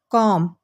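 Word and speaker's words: comb: कंघी को कहते हैं कॉम यह आपने कॉम नहीं पढ़ना बी साइलेंट है कॉम कॉम कॉम हैमर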